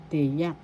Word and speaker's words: tiyak: this as hindi hindi tiyak tiyak first syllable second syllable The second syllabas accent. So you pronounce this or because tiyak tiyak.